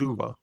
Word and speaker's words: Uwe: Okay, so that is Citizen Vigilante directed by Uwe Uwe Boll and starring Armie Uwe Uwe How do you say it, Eric? Uwe? I think it's Uwe.